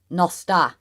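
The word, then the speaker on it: nos da: That is how the Welsh is pronounced. So you see the word and no, o, s, nos, da, a, da, nosta is it's what I got taught by one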